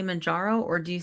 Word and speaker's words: Mounjaro: When you say Mounjaro, do you say Mounjaro or do you say it like Kat says it? Kat, say it real quick. Mounjaro?